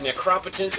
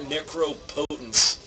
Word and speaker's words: Necropotence: Garrick and not garook it's necropotence and not necro potent uh what else I